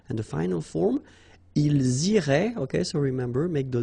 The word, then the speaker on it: iraient: So, ils iraient, and then if you look carefully, you get A-I-E-N-T, okay? But then phonetically, it goes like E, okay? So, technically, these form and these forms here are pronounced the same way. And it goes like irait, okay?